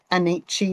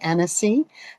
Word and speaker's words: Annecy: I did work out that last week I was saying the word Annecy or something and it's actually Annecy, the town that we went to.